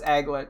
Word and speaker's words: aglet: Oh, it's not Anglet, it's Aglet.